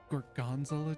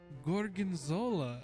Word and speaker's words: gorgonzola: And I looked at oh, gorgonzola. And she went, "Is that how it's pronounced?"